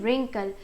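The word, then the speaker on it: wrinkle: लेते हैं जो है झूरी यानी की रिंग कल यहां पर ब्लू साइलेंट राहत है यानी की रिंकल का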